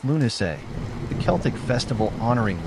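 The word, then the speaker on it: Lughnasadh: Lugnisad, pronounced Lunay, the Celtic festival honoring L, the god of light, craftsmanship, and war.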